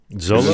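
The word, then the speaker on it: Xolo: Um, the dude from uh Cobra Kai, uh, how do you pronounce his name? Uh, Zolo Zolo.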